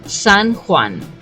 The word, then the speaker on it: San Juan: pronunciation for this area the correct name is San Juan Saint John all right so San Juan should be the proper name but I'm pretty much